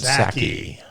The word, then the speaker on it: Psaki: Besides his long-standing love affair with Jen, the P is silent, Psaki.